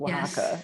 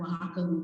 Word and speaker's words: Oaxaca: you spell it right same with oaxaca it's actually o a x so just so you know um from the english standpoint it doesn't sound anything like the way it's spelled but um when i was